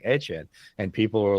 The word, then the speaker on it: Etienne: he said, "Oh, Mike, you know, everybody says Etien, but my family pronounces it HN." So, we started saying Etchen. And people were like, "It's Etienne."